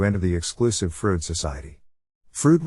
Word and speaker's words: Froude: Froude rhymes with dude.